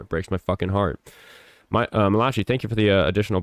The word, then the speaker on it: Malachi: Malachi, thank you for the additional buck. It's pronounced Malakai.